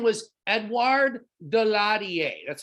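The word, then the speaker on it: Daladier: a leader in france his name was eduard delarier that's how you pronounce his name so edward de la die he represents of course the french and if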